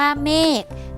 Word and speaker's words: เมฆ: ไก่ เช่น กัน ค่ะ คำ ว่า เมฆ นะ คะ ขอ ร ทาง เป็น ตัว สะกด ค่ะ แต่ ออก เสียง ก ไก่ เช่น กัน ค่า นะ คะ อัน